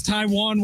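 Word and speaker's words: Taijuan: No, it's Taiwan Walker. Pronounce Nectai Juan. Yes, it's Taiwan Walker. Get out of here. There's a J in it, bro.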